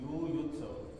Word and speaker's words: युयुत्सवः: स एकत्र आले त्याच्यामुळं यु जो छोटा उकार हा त्याचा मोठा उच्चारण यु युत्स असं आणि स परत लघु आहे छोटा अक्षर आहे यु युत्सव तर आता आपण एक